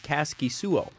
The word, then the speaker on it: Kaskisuo: Caskey slow or sOooo wife on on twitter has the pronunciation and she says it's Caskey soooo cool well I Got